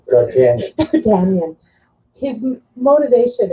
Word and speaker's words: D'Artagnan: D'Artagnan.